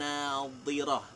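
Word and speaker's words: ناضرة: Ingat ya, kalau ayat yang ke-22 itu pakai dhad, maka bacanya harus hati-hati. Ini keliru baca, jadi fatal ini. Jadi kalau ayat 22 tadi wujuhun yauma idzin nadhirah. Nadhi itu sisi lidah menyentuh di geraham atas kemudian ditekan.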